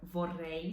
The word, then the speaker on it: vorrei: E aqui a palavra vorrei seria vorrei. Você percebe que a vorrei é diferente a pronúncia do R, tanto o R sozinho como o duplo R é diferente do Brasil.